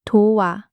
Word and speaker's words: 도와: Same three moves as 곱다. ㅂ drops, o appears. O plus a becomes 와, 도와, help.